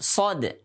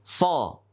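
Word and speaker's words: صاد: Huruf shad. Bukan huruf so, tapi huruf shad. Kalau kita ingin mengucapkan shad dengan benar, maka harus diakhiri dengan dal dalam keadaan sukun.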